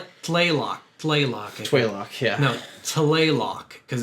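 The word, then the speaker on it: Tlaloc: playlock toylock yeah no talaylock because it's t l it's not oh yeah you're right it's telelock t but i think they really don't pronounce that t it's like playlock like it's really weird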